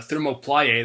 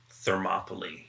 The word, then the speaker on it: Thermopylae: a mod released by Thermoplaye that I haven't really seen be talked about. What is his name? Is that how you say it? Thermoplaye? Thermopylae. Oh, yes.